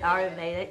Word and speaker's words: Ayurveda: Ayurveda, yeah.